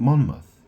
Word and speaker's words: Monmouth: They live in Monmouthshshire or Mount Monmouth. Monmmouth, it's spelled M O N M O U T H. Monmouth.